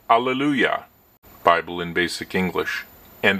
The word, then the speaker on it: alleluia: Here again we can see the original Greek, and the phonetic spelling or the pronunciation is alleluia, alleluia, not Allah.